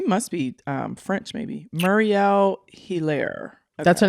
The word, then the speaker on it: Hilaire: M-U-R-I-E-L-L-E, and last name Hilaire, Hilaire.